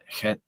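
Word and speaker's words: חית: Chet, Well, K-H. it's transliterated into English as ch, ch, but it's sort of pronounced as ch, chet. Yeah. Like you're cleaning your throat, and you're about to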